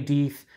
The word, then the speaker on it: Deth: emailed the brewery and they said it's deeth not death so it beats tar